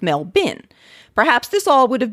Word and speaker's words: Melbourne: voice to the confusion i've always found that the name sounds most natural and recognizable if pronounced mel burn regardless of your accent you're not alone in this situation though i've heard other american podcasters attempt their own australianized pronunciation and come up with mel bin perhaps this all would